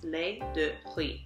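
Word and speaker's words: riz: you want rice milk that one is Le which is confusing because it's spelled r i z but you don't say the Zed Le um so that's basically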